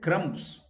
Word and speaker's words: crumb: So it is not bread crumbs. It is bread crumbs.